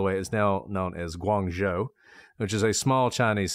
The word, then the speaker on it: Guangzhou: Not just of Canton, but Canton is not how you say it in Chinese, but Guangzhou is really good.